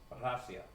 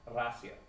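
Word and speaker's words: Россия: something like that, and it's pronounced Rasia. Or it's not even a roll, it's just like half a roll, like Rasia. It's just like the smallest amount of a tongue roll.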